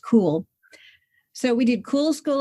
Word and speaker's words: Kuhl: So I guess that was really the beginning of our home school was our last name is Kuhl but pronounced cool.